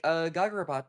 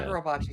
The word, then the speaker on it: Kagurabachi: Like, Gagarabot, like Gagaragachi, Bachi. Am I saying it right? Yeah. Yeah. No, you're You want not. Kagura? You want Kagurabachi? Oh, Yeah. Kagurabachi.